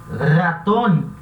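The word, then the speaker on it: ratón: como por exemplo, raton, raton, que é rato, esse R vai ter esse som vibrante, a garganta vai vibrar. Então vai ser raton, raton.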